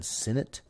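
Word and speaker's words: Sinnott: right there Ben sinat so sinate however you want to say his last name I've heard it pronounced all the different ways I believe it's actually been Senate um for per his Instagram page but I don't know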